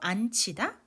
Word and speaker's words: 앉히다: 발음 어때요? 지읒, 히읗 만났어요. 치 소리 바뀌지요. 안 치다. 이렇게 읽어주시면 됩니다.